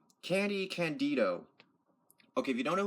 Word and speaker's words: Candy Candido: How do you pronounce his name? Candy Candido.